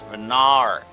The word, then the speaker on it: Venar: That would be I keep pronouncing it like uh star mommy's name. I'm not trying to do that. It's venar. Venar.